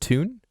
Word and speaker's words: Thun: I stayed the night in, I think it's pronounced Thun. Uh-huh. But it's weird. It's spelled Thun, but they say Tune.